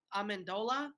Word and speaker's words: Amendola: they're actually been utilizing Amendola I believe that's how you say his name yeah I mean really